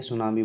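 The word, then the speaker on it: tsunami: ये टी से शुरू है, टी साइलेंट होता है, इसलिए सुनामी बोला जाता है इसे, पर लिखने में टी आगे आता है।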